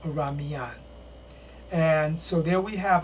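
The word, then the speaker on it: Oranmiyan: And his name was Oraniyan or Oramiyan. Most often it's pronounced Oramiyan.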